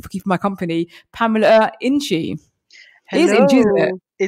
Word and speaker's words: Nkyi: He says, my name's not Nkyi, it's Nkyi. And I had to remind myself how to say it because I was going to talk to his mum. So I taught myself Nkyi Winchy Spider.